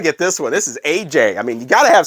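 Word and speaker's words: Aja: curtis blow and yes i realize this is supposedly pronounced asia but in this house it's aj we don't do pretension here what i want to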